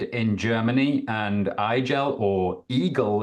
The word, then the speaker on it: IGEL: Germany and elel or Eagle as it's pronounced in Germany actually means Hedgehog wow